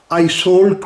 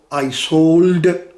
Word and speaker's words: Iseult: ہیر رانجھا کی داستان۔ آئیسولٹ کو آئیسولڈ یا آئیزولدے بھی کہا جاتا ہے، مختلف زبان میں اس کا مختلف تلفظ ہے۔ کہتے ہیں کہ تقریباً